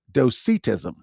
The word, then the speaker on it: Docetism: dosetism and then I looked up the actual pronunciation of this and it is dosetism.